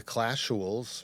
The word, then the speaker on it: Clashuals: Big B is a podcast host of the Clashuals, right? Is it? I pronounce it weird in my mind every time I do Clashuals, right? Yeah, it's like casual, but with an L, so it's Clashual.